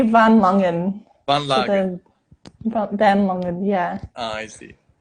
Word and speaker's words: Van Langen: So is it the correct pronunciation to say Van Lagen? But it'd be Van Langen.